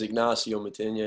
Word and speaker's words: Ignacyo Matynia: have you say so uh my name is ignacio matinya and it's uh it's great to be on